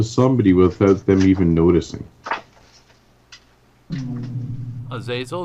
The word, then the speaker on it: Azazel: Azazel, it's good to see you. Good to see you. I was gonna say chief, but Hey, I don't know. I'm trying to get away from that word. hey, Azazel.